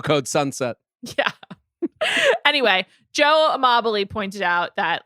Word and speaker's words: Amabile: Joe Amabile, I think Amabile, sorry, that's how you say it.